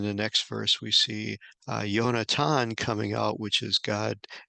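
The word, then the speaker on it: יונתן: Yonatan is how Jonathan's name is pronounced in Hebrew.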